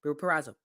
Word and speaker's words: Purrazzo: Becky Lynch, she won't be able to live with herself if Deonna Purrazzo I hope I said that right. Purrazzo.